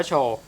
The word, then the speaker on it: Shou: ได้ ครับ ก็ คือ Show screen Record นะ ครับ อ่าน ว่า โชว อ่าน ดู ใน ฟัง